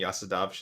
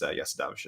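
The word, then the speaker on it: Jasudavicius: but um it is if you're cool like me and try to pronounce it the lithu the Lithuanian way it is Yas davish so um yeah uh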